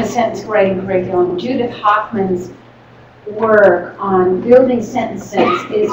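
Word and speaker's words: Hochman: In the sentence writing curriculum, it's more than a sentence writing curriculum, Judith Hoffman's work on building sentences is really outstanding.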